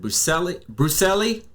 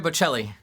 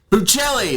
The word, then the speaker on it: Bocelli: I'm looking for, but was it Andrea, what is it? Brucelli? Andrea Bocelli. Buccelli, that's it. Buccelli. Yes. Andrea Buccelli.